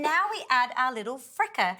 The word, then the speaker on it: Freekeh: don't worry and now we add our little fricker how do you say it again frica but the olives wouldn't have made my dish